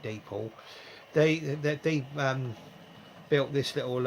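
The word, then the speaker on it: Dapol: then a company called dapo or depol i call it that was something pronounced at day pool they they built this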